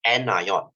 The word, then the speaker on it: anion: as cat ion and this negative part is pronounced as anion okay so why you might say sir i